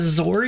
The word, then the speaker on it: XOR: then eore eor gate I just call them zor Gates apparently you pronounce it exor or something anyway it doesn't matter